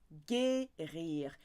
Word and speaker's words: Guérir: Guérir. If that U wasn't there, it would be a soft G. So they put the U in there to give it a hard G.